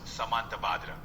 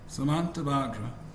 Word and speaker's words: Samantabhadra: It's pronounced Samantabhadra. Samantabhadra.